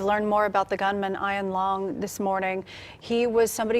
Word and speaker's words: Ian Long: And I also want to clear up right from the beginning pronunciation. Now, the sheriff identified this mass killer as Ian Long. Well, a neighbor tells us he's heard his mother say many times Ian Long. We're going to go with Ian Long.